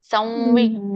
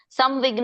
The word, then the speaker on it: ಸಂವಿಘ್ನ: ಶೋಕ ಸಂವಿಘ್ನ ಮಾನಸಹಸ ನೋಡಿ ಇಲ್ಲಿ ಸಂವಿಘ್ನ ಅಂತೀರಿಲ್ಲ ಇದನ್ನ ನೀವು ಅಂತೀರಿ ಕ್ಯಾಜುಲ್ ಆಗಿ ಅದೇ ಬರುತ್ತೆ ಸಂವಿಘ್ನ ನೋಡಿ ಇಲ್ಲಿ ಹೆಂಗೆ ಬರುತ್ತೆ ವ ತಾನೇ ಬರುತ್ತೆ ಅಲ್ಲ ನಾವು ಯಾಕಂದ್ರೆ ಹಾಗೆ ಕಲ್ತಿದ್ದೇವೆ ಸಂವಿಘ್ನ ಮಾನಸಹ ಸಂವಿಜ್ಞ ಅನ್ನಲ್ಲ ನೋಡಿ ಸಂವಿಜ್ಞ ಅಂತೀವಿ ನೋಡಿ ಮತ್ತೆ ಯಾರಾದ್ರೂ ಹೇಳಿ